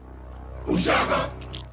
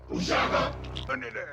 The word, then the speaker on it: uShaka: Ushaka. That was his name being pronounced correctly. Once more. Ushaka.